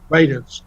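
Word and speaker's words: Radunz: And, of course, Dylan, is it Radnitz? Is that how you pronounce it? I think he'll work out a little bit better than Isaiah Wilson did. How do you pronounce it? Radens.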